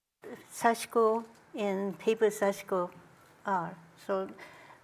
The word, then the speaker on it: sashiko: in there sash but it's more like I is silent close to silent so Japanese people say it's sashko so okay sashko is